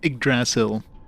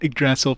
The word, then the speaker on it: Yggdrasil: But Tony J says it's Yggdrasil. So, I shall call it Yggdrasil from now on.